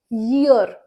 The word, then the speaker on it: year: Year से मुझे याद आया, यहाँ पे हम YEAR को कुछ लोग बोलते हैं year, year और ear. तो ऐसा नहीं है, it's year, year, right? Not ear, year.